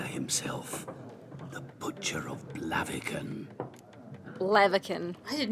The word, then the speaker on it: Blaviken: Blaviken. I did not know that's how you pronounce that. Blaviken.